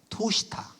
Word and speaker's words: 투시타: 보살들이 바로 투시타라고 해서 상제님도 그 언어가 원래 발음에 맞다 도솔촌보다 토시타 도솔천 미륵님 미륵님이 여기